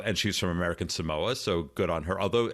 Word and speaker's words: Samoa: she was from american samoa so good on her although i didn't realize this uh it's pronounced samoa american samoa really yeah well i